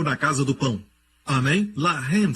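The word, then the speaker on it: לֶחֶם: Lahem se escreve assim. Lahem pode significar pão ou alimentar. Mas Lahem também quer dizer luta, batalhar, guerra. Se escreve da mesma maneira. Lamed, Het, Mem. Mesma escrita, a única diferença é a pontuação. Eles colocam os pontos em diferentes lugares. Um é Lehem, o outro é Lahem.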